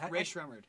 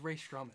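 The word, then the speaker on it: Rae Sremmurd: Ray Schremmer. I always thought it was Ray Strumming. No, does everybody say that? It's Ear Drummers backwards.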